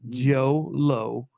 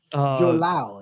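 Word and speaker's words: Jho Low: Was accused of funneling money from a fugitive Malaysian businessman, Joe Low. That's obviously all bad pronunciations of that. Joe Lau is Joe Lau.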